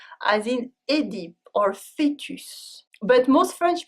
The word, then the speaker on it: Œdipe: However, in some words, the E dans l'eau stands by itself and it's pronounced E, as in Édipe or fetus. But most French people still pronounce it E, like Oedipe.